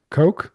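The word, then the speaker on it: Koch: Christina Ko, I guess that's how you say it. Yeah, Coke. Like the Coke.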